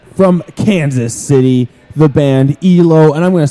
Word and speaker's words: Ealo: This spelled EALO. And this track, I believe that's pronounced ELO.